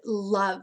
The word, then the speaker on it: love: And there's a sneaky sound or sneaky silent letter at the end, and it's the letter E.